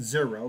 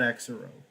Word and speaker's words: Exero: So they were actually it was pronounced Zero because it's in the English language. Unfortunately, the English language seems to have more exceptions than actual rules, and so you would pronounce it Zero, not EXERO.